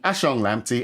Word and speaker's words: Ashong-Lamptey: Well, first off, congratulations on pronouncing it right. Practice, practice makes practice there. So, for the audience, I'm Dr. Ashang Lampy.